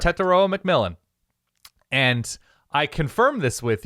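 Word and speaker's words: Tetairoa McMillan: the 2024 season is T-Mac from Arizona uh T taroa McMillan is how you pronounce his name correct yes correct correct Teta McMillan and I confirmed this with you yesterday because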